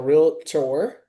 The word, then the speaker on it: realtor: We get paid like a realtor, right? Two syllables.